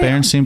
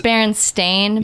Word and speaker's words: Berenstain: What about I- Berenstein Bears? is It's Berenstain yeah, Bears it's is spelled the actual it's spelled last like name.